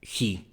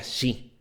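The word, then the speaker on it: Giy: decían el Tano y él pronunciaba su apellido Hi que era G I Y yo le dije mira Tano eh se pronuncia Yi porque en italiano la g y la i es suena y y no lo sabía Y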